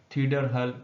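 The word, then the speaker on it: Theodor Herzl: के जो लीडर थे थीडर हल, इसका नाम ऐसे लेते हैं प्रोनाउंसिएशन, तो ये एक जूइश लीडर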